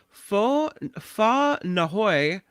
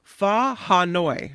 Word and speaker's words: Pho Hanoi: The Vietnamese restaurant Pho Hanoi, I said it wrong. Pho Hanoi, there it is, in Cupertino, is raising some eyebrows.